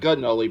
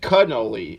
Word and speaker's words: cannoli: Not gunnoli, but cannoli. Excuse me. That's the Italian in me. That's all we say. We say it like a gun, like Clemenza.